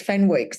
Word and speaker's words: Fenwick: It's like Phoenix in London. I'm like, it's Fenwicks. It's got a W in it.